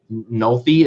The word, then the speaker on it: Nohelty: have, oh Jesus, Nohelty. Close enough. It's Nick Nolte. It's like it's pronounced like Nick Nolte, but spelled differently. Nolte is how you say it?